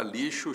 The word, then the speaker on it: lixo: gente ouve assim a na palavra lixo o X tem som de ch Não de jeito nenhum